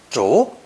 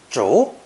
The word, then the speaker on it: 逐: Pronounced second tone. 逐, 逐.